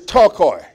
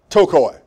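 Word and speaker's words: πτωχοί: Another word is tokoi. P-T-O-C-H-O-I. Tokoi. P is silent.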